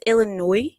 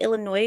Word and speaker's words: Illinois: right um You said the S is silent in Illinois listen listen I did